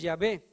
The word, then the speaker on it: Yahweh: vocales de Adonai y apareció el nombre de Yahweh, que nosotros pronunciamos Yahvé, que significa Jehová.